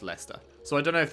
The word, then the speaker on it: Leicester: yeah even right here this is leicester not lyster it's just leicester so i don't know